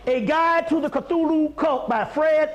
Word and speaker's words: Cthulhu: regular historical book call a guide to the Cthulhu cult by Fred L Pelton Fred Pelton wrote